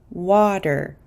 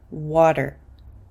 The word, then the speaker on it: water: have this famous word water water because this T is between an A and an R I'm going to pronounce it as a quick D sound water water water these rules